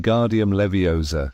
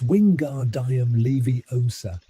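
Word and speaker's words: Wingardium Leviosa: You're saying it wrong. Harry heard Hermione snap. It's wingard diam levy o sa. Make the gar nice and long.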